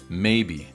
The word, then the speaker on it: maybe: as one word and usually stressed on the first syllable Maybe maybe I often see